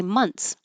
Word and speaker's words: months: And um we don't really make that th. It's something I teach as a shortcut because if you're trying to make that th months months, it's it takes time and you have to slow down to make the months. But we don't. We just change that th to a t and we say months.